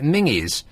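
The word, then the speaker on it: Menzies: I mean I know that that's how they pronounce it up there because there's a news agents called menes and they call it mingies which is not the nicest name for a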